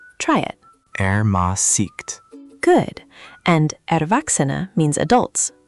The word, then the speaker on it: Ermäßigt: Ermäßigt. How do I say that? Ermäßigt. The emphasis is on the second syllable. Try it. Ermäßigt.